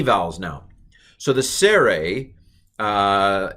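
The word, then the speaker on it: צֵירֵי: vowels now so the sere uh is a long e sere and it's pronounced a i know that's confusing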